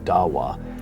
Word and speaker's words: dawa: Dawa is the way it's pronounced and what it means is to plead or to call non-Muslims to Islam.